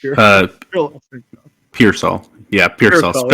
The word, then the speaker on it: Pearsall: Yeah, Pearsall. It's spelled like pear, but it's pronounced peer.